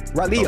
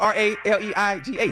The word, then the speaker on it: Raleigh: Raleigh. Oh, okay. Close enough. That's how you say it? How you say it again? You for real? But it's spelled R-A-L-E-I-G-H.